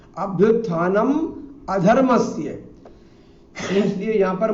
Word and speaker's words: अधर्मस्य: प्रायशः उत्तर भारतीय जो है अपने उच्चारण दोष के कारण से बीच में आने वाले ना और मां को लगभग आधा कर जाते हैं, इसलिए वो अभ्युत्थानम धर्मस्य ऐसा पढ़ जाते हैं।